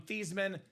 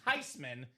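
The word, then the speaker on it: Thuney: his last name from Theman to Thyman?" She said, "No, I wasn't angry. His name is actually pronounced Tyman. It's a German name. The proper pronunciation is not theman. It's not Thyman.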